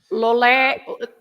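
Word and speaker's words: Loulé: Lolé, it has an accent at the end, so Lolé.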